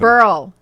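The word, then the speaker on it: Berle: and and speaking of barrel so what happened Burl what did I say Burl oh it's pronounced bur it's not like bur lives bur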